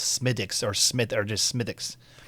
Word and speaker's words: Smithwick's: in the Irish dialect, they don't really say the th. They pronounce it like a Like a D. So, it's Smithwick's or Smith or just Smithwick's.